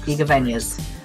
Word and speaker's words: Igavanias: Yeah, you said there were two types of Castlevania games, which are Classicvanias and the Igavanias? Is that how it's pronounced? Yeah. Igavanias.